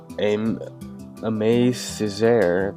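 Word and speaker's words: Aimé Césaire: the chapter by pointing out that some say em amaze cesaire that's how you pronounce that name has more skillful command of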